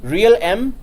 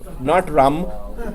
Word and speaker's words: realm: Real M trust. Rain. Realm. Round. Realm. Not rum. Realm. What is going on here? What is sorry? Am I right? They do not pronounce the L.